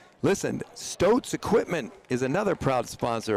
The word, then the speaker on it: Stoats: Stoats rhymes with boats.